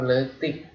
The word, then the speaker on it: leutik: Kecil dalam bahasa Sunda itu leutik, leutik atau alit. Nah, teman-teman kalau ketemu huruf E sama U itu dibacanya ya. Kayak habis makan teman-teman, kalau habis makan biasanya gitu ya.